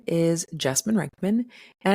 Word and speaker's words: Jessamyn: sociologist my name is jasine rikman and I tend to tell folks that at rhymes with specimen but with a J my love for people